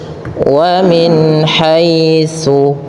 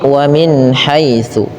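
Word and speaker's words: وَمِنْ حَيْثُ: Wamin haitsu. Ya. Kemudian tsa hati-hati dalam pelafalannya jangan dibaca dengan su tapi wamin haitsu.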